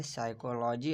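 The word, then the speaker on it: psychology: जैसे कि हमारा जो पहला वर्ड है वो है साइकोलॉजी। अब साइकोलॉजी में देखें पी का जो साउंड है वो नहीं आ रहा, पी जो है वो साइलेंट है।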